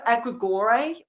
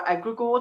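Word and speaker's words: egregore: It it will be very rare that you will because we've all it's a egregor um or egregor depending where you're from is how you pronounce it.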